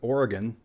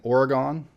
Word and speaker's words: Oregon: vast majority of people pronounce it right with Oregon but you will get an occasional person pronouncing an Oregon and those people are called wrong in similar fashion the